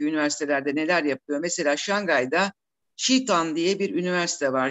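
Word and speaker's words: Jiao Tong: Mesela Şangay'da Chitan diye bir üniversite var. Jitong yazılıyor, Chitan diye okunuyor.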